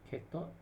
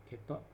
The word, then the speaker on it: cathode: the anode okay node cathode make sure you not just pronounce this one kept up this is a gate